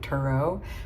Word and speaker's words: tarot: Tower, like the old way of pronouncing it, or the right way of pronouncing it is like Turo, but I like Tarot, so I just, you